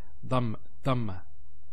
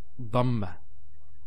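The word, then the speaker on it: ضمة: Some people actually, they don't say it with a dad. They say it with a dal. So they say dhamma. It's not dhamma, it's dhamma.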